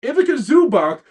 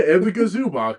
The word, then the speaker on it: Ivica Zubac: Ivica Zubac will also receive a $2.4 million trade kicker as a part of the deal.